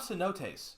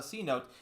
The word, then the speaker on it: cenote: It's not a cote. It's a cenote.